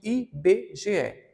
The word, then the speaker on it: IBGE: bge tem quatro letras mas eu não pronuncio ibg pronuncio i b g e então se eu pronuncio